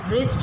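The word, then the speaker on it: wrist: इसी तरह रिस्ट, रिस्ट में W साइलेंट है तो हमने W लिख दिया।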